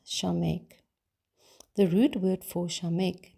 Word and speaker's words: Samekh: 15th letter of the Hebrew alphabet which is pronounced shameek the root word for shameek means to lean